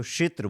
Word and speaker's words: क्षेत्र: ना शू बस तो ये आपका तो आपको क्षेत्र बोलना है क्षेत्र हां ठीक है क्या हो